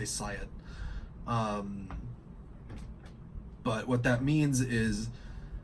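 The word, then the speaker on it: psiot: are referred to as science or science or however you wanna pronounce it I usually say Siot but what that means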